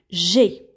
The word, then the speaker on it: j'ai: Je ai. Je ai, ça ne se dit pas en français. C'est un peu lourd à prononcer. Donc, qu'est-ce qu'on va faire? On va enlever le E et on va mettre l'apostrophe. Comme ça, on peut dire j'ai. J'ai.